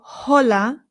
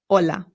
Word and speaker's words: hola: It's important to note that the H in Spanish is always silent. No exceptions. So, we don't say hola. It's just hola.